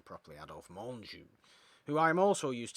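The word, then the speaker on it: Menjou: silly things in it either the sniper adolph menju monju monsieur let's pronounce his name properly adolf monju who i am also used to see more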